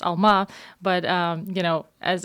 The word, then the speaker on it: Alma: current Venture which you're doing tell us about Elma yeah yeah happy to uh so first of all Alma for uh your listeners from Central Asia actually pronounce Alma but um you know as as your listeners